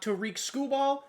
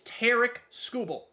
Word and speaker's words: Tarik Skubal: That is how you pronounce his name. I looked it up. Not Tarik Skubal, not Harry Scoobs. It's Tarik Skubal.